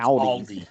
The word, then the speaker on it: Aldi: And when he says Audi, he means Aldi.